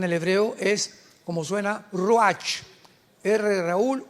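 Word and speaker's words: ruach: Apunta la palabra espíritu en el hebreo es como suena roach. Raúl u a c h. Pero la ch en el hebreo se pronuncia como j. Roaj.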